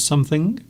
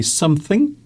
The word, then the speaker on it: something: Joe says, when you say something, the G is not pronounced. Well, it can be, actually. Who made you the boss of the English language? No one. If you want to say G, if you want to pronounce G at the end of something, you can. You can say something. You can also say something.